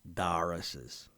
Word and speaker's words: Doris's: York City there was Doris's Diner or more accurately pronounced locally as darses on the first floor